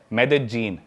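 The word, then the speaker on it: Medellín: उसकी एक सिटी है मेदजीन स्पेलिंग में उसमें डबल एल आते हैं मेदलीन होता है लेकिन कोलंबन स्पेनिश में ल को ज बोलते हैं तो मेदजीन वो शायद उसकी मेन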